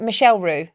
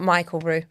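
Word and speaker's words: Michel Roux: Is it Michelle Roux? Yeah, I think so. Yeah, not Michael Roux.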